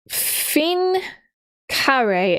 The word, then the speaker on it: fin carré: Oh, okay, so it's fin carré. It's written fin as in the end, F-I-N, and then carré, C-A-R-R-E. Fin carré is how you would pronounce it in French.